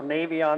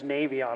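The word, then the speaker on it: Navion: a bit of a um fixation on so Navy on there's actually a bulletin from North American specifying that the correct pronunciation is navon a lot of people say navon well that's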